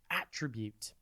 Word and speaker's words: attribute: TV today's word is attribute it's pronounced at rib and it is spelled a t t r i b u t e think at then rib and then Ute attribute has two meanings